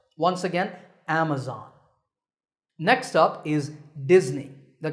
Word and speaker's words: Amazon: word is commonly mispronounced Amazon when you say it correctly the first syllable is app and the stress is on this first syllable so Amazon is correct once again Amazon next up is Disney